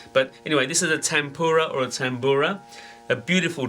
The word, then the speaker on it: tanpura: at a very popular drone instrument called a tempura I would spell it ta n PU RA but it can also be called the tambura and spelled in many ways of course all